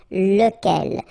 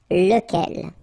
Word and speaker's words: lequel: we saw, lequel, okay, so remember you get to pronounce it lequel. Even if you get this QU, okay, remember that this U phonetically doesn't exist, so lequel.